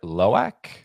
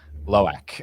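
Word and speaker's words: Lo'ak: Loak? Yes. Okay. All right. I just want to make sure. Sometimes the pronunciations are a little weird. Loak.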